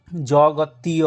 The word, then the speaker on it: জগতীয়: ত্রিষ্টুপ, জগতীয় অনুষ্টুপ, এখানে দেখুন জগতীয় আছে, তাহলে তিয়র জায়গায় কি হবে? ত যুক্ত ইয়, তাহলে হলো কি তিয়, জগতীয় জগতীয় অনুষ্টুপ জগতীয় অনুষ্টুপ।